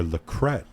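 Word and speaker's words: La Crete: street or lacret pronounce in French and it's a town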